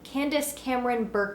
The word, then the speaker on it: Candace Cameron Bure: in a hallmark commercial and it was candy Candace Cameron Bure kay could she's fancy but it stars her